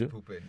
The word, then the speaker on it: Bhupen: Don't you pronounce it Bhupen? No, it's Bhupen.